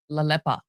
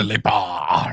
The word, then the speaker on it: Lelepa: Lelepa. Okay, so Matt and I have been have been saying it wrong all these years. We believe, we think. So what we are hearing, it's Lelepa.